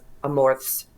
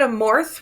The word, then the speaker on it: Amorth: I think we typically say it Amorth with the H on the end, but I think in Italy it's Amort. Amort? With the T at the end. Okay. No H.